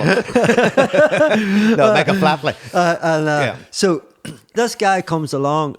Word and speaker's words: Flatley: Because I know that the guy in charge of it, I can't pronounce his name right, so it'll come out all wrong. Michael Flatley. Michael Flathead, I call him. No, Michael Flatley.